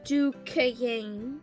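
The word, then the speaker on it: Duchannes: Pronounced in the South, too. Rhyme with rain. The way Emma rolled it out, you would have thought the word had an extra syllable. Duquesne.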